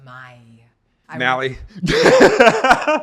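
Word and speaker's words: Maille: the one I use French it's it pronounced my mie I went I went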